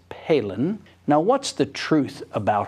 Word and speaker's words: Palin: would think p a i n would be palen I mean that's the way most rednecks would pronounce it and I certainly was inclined to do the same thing but now we all know it's Palin now what's the truth about her and about